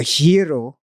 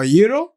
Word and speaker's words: gyro: I was getting a let me pronounce this correctly a hero a hero Tyro they got one gyro yeah but I got corrected one time I said oh Euro all right but by the